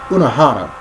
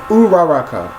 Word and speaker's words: Uraraka: freaking ur ur um I call it unana that's not her name it's uraraka but that's freaking hard